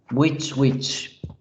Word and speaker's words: which: Sí, se pronuncia exactamente igual que la palabra bruja. Which.